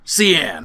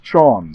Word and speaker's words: Cian: Cian, what's on your mind? The name's Sean, sir. That is a ridiculous way to pronounce that name.